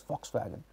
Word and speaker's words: Volkswagen: English, it is written as V-O-L-K-S wagon, Volkswagen, but it is pronounced as Volkswagen.